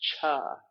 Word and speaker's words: Chih: That third word is pronounced cha, like chuck wagon. You remember I'm a nutritional counselor, so I'm into food. But it's spelled CHIH.